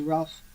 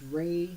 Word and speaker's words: Ralph: to Harry Potter actors one of them was Ralph Fiennes or I guess refined I don't know hi pronounce an l ph turn that it's the British way of saying it's ray apparently and but we they get sued array